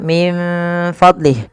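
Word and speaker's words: مِن فَضْلِهِ: Kemudian min fadlih di sini ada nun mati bertemu fa. Sebagaimana anfusahum ya sebagaimana anfusahum yaitu bagaimana kita membacanya. Kita membacanya menyamarkan nunnya kepada huruf fa.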